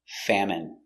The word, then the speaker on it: famine: Pronunciation famine f a fa m fam. It. Famine. M. Famine. Famine. Stress on the first syllable.